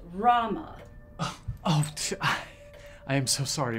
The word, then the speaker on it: Roma: say that anymore okay they like to be called Roma it's pronounced Rama oh I am so